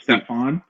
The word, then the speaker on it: Stephen: It's actually Stephen, but it's actually pronounced Stefan.